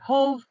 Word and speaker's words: Hoeve: I'm at the doctor's office, and they're like, I say Hoeve.